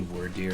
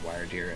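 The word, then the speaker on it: Wyrdeer: It could be word deer, but I'm pronouncing it wire deer as like the word wyvern.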